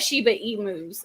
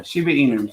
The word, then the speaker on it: Shiba Inu: We have Shiba emus. Is that how you say it? Yeah, Shiba Inu.